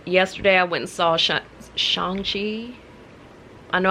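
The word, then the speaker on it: Shang-Chi: i went and saw shangji i know i was calling it shang chi at first but then i watched the movie and he was pronouncing his name like shang and i'm like ah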